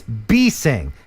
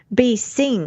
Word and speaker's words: Bessing: on it on his it's b sing like a little b is singing beasting and i apologize for mispronouncing i like that name that's a nice name not be sting be sing yeah but it's not bessing like i've been saying that's it uh